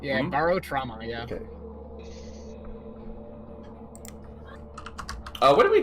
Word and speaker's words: Barotrauma: Primary Barotrauma, is that how it's pronounced? Yeah, Barotrauma, yeah.